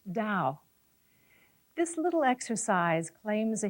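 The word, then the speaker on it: Tao: essentially Chinese and it's spelled ta AO and pronounced Dao this little exercise claims a history of over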